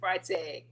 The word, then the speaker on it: Freitag: And today, we have the honor of having my good friend, Miss Emily Freitag.